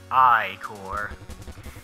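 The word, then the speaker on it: ichor: with magical eye core that's pronounced i core choose your i-core wisely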